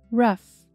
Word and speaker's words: rough: Rough. Rough. Rough up. Espancar. Rough tem uma pronúncia parecida com a palavra tough. Tough.